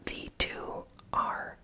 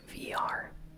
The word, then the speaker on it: VR: The game's I think it's V2R, but I believe they want you to pronounce it VR, because VR, virtual reality, even though it's not spelled that way.